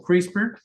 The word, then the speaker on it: CRISPR: Lo pueden buscar como CRISPR. Esto es una cosa muy importante y reciente, se pronuncia así, son unos clusters, de unas secuencias